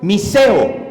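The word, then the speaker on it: μισέω: diccionario strong del griego mi ceo con acento en la e que quiere decir a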